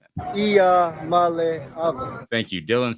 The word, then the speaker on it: Iamaleava: And he also is nice enough to mention his name every once in a while for those that have trouble pronouncing it. Iamaleava.